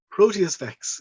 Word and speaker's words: Proteus Vex: But and then you've got how do you pronounce it? Proteus Vex? Proteus Vex.